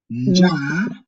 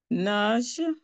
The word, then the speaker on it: nja: Ndizi, ndifu, ndio, ndugu, nash. No, this is nja, nja. Nja. You say nja, nja. Nja. You don't concentrate to pronounce the letter N. Just say nja.